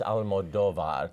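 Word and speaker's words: Almodóvar: that trend but it's a foreign film it's Alan Moldova that's the correct pronunciation it's a higher class of quirky yet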